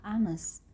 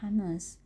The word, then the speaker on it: honest: Dalam bahasa Inggris ada beberapa huruf yang ditulis tapi tidak diucapkan. Contohnya ada huruf H pada kata-kata honest. Nah, banyak sekali pelajar yang membaca huruf A tersebut, jadi mereka membacanya honest.